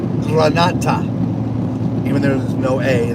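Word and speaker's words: granita: America it would look like Granite but it's pronounced Granata even though there's no a there's NE Granada Granata I can't roll my RS anyway um yeah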